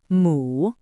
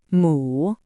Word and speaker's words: 母: And now you've learned how to write mu. Let's practice reading it. It is pronounced in the 3rd tone. Repeat after me. mu, mu, mu.